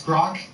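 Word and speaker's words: Groq: Uh, it's Grock and we spell it with a Q and it's because it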